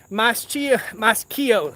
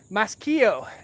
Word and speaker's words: Maschio: So no fault of Maschio. I was saying it wrong. Maschio.